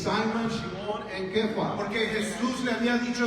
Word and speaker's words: Kepha: But it's actually the original is actually in Aramaic, which is pronounced Kepha.